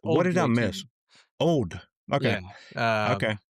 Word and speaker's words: Auld: And you were 99% of the way there with the name of it, with the pronunciation. It's Auld. What did I miss? Old.